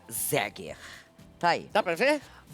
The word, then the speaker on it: Zeger: Escreve Zeger. Olha aí. E pronuncia Zeger.